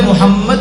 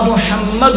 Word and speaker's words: محمد: کی ادائیگی کیا ہے۔ عدم توجہ کی وجہ سے بھی محمد بولا جا رہا ہے، یقیناً یہ غلط ہے، لفظ محمد نہیں ہوتا، محمد ہوتا ہاں کے ساتھ، تو ایسا بولنا تو غلط ہے۔ قرآن پاک میں پڑھا